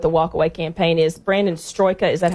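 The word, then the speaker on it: Brandon Straka: Brandon Stroika, is that how you pronounce his name?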